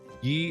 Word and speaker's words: ye: Yi is pronounced the. The letter Y was just replacing thorn, because more 15th century printer typesets had Y than.